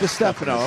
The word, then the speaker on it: DiStefano: DiStefano, but how do you say your last name? Stefano, that's fine. DiStefano, okay.